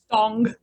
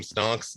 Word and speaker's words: Stong: Stong. Like Sting, right. but not. Right. Got Stong. it. Because I was thinking the meme, Stonks going up.